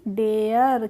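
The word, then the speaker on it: dare: mayor पढ़ेंगे डी ए आर ई तो क्या डारे पढ़ेंगे इसको नहीं डारे नहीं पढ़ेंगे इसको पढ़ेंगे हम डेयर क्या पढ़ेंगे डेयर पढ़ेंगे ऐसे ही एफ ए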